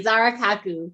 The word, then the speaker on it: Zahra Khakoo: who wouldn't be, but I want to welcome Zahra Khakoo. Welcome, Zahra. Did I say your name correctly if I mispronounced it? No, you said it perfectly. Zahra Khakoo.